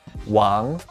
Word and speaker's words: 王: This character is pronounced wáng and means king.